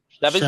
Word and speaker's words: Sheaves: It's a different way to say Chevy for sure. I'm used to bow tie Chevy.